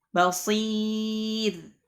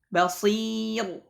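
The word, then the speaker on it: بصير: Seharusnya dibaca tipis malah dibaca tebal. Nah, nahwu contohnya kabir, basir, khair, tipis, ya. Jadi tidak dibaca tebal. Kabir, basir, khair. Nah, tidak. Tapi dibaca tipis. Kabir, basir, khair. Ya, dibaca tipis.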